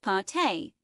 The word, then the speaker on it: pâté: The images included what looked to be a lobster or Cornish hen mashup meal, a salad, desserts, and a slice of pâte pronounced pâté, which is a French term that loosely translates